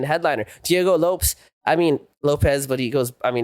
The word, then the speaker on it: Lopes: I mean, Lopez, but he goes I mean, it's spelled Lopes, so I like to call him Lopes, but it's pronounced for Lopez.